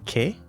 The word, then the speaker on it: Que: at their IM named K I did ask for clarification on the pronunciation and to the best of my ability without knowing the language the pronunciation is closer to chit and means Magpie hence